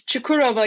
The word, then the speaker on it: Çukurova: Help me with the name of the university, because I'm So probably going to mispronounce it. It's Çukurova University. Çukurova University, and that's med school.